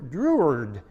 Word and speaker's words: Drouhard: Druard Druhard Druyard Drua is how the name is pronounced in the French pronunciation.